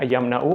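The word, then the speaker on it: يمنعون: मना यमनाऊ बाबे फतह से आता है। यानी फतह यताहु के वजन पे ये प्रोनाउंस होगा। मना यमनाऊ और वो मना करते हैं माउऊन।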